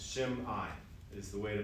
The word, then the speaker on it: Shimei: One way to remember how to pronounce it is it's after the M, if you put like an apostrophe, it's Shimei is the way to pronounce that name.